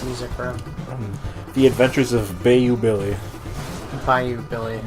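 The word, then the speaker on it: Bayou Billy: what is this music from The Adventures of Bay you Billy find you billion by you Billy no it's baby it's pronounced Tropez like Bayonetta it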